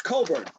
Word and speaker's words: Cockburn: Kofi COCKburn. You would think, right? Apparently it's COCKburn.